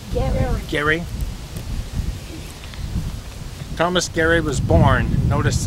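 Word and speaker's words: Gerry: about this family here thomas gary or jerry how we pronounce g-e-r-r-y gary thomas gary was born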